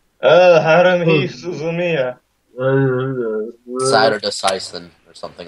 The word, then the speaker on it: Suzumiya: Haruhi Suzuyama. Suzumiya. Don't Yeah, how care. do you pronounce it?